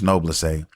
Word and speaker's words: Noblesse: I did finish Noblesse. That's how I pronounce it. Some people pronounce it differently, but that's how I say it.